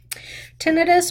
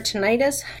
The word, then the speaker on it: tinnitus: through their video games tinnitus or tinnitus depends however you feel like pronouncing it that is ringing